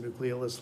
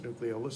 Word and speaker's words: nucleolus: nucleolus or nucleolus um proper latin pronunciation it's a nucleolus a lot of people pronounce the nucleolus because they didn't you